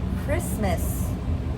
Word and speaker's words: Christmas: Now, how about Christmas?